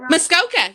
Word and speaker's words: Muskoka: have you ever been to muskoka do i pronounce that muskoka yeah also uh everywhere known as the cottage